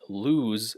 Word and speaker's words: lose: But anyway, you can see eyes is not ice, and lose is different from loose.